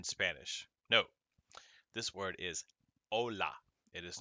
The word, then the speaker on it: hola: ka h in spanish no this word is ola it is not hola so we have ola